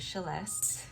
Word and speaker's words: Celeste: Inspired by my name is spelled Celeste, pronounced Celeste.